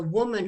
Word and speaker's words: Womun: to w-o-m-u-n so the almost like human yeah yeah yeah and